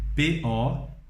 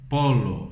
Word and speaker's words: pollo: Da mesma forma também, quando nós dizemos frango, frango nós escrevemos P-O-L-L-O e lemos pollo, pollo, não polo, senão polho, ok?